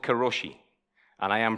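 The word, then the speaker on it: 過労死: It's called karoshi, and I am pronouncing that spot on.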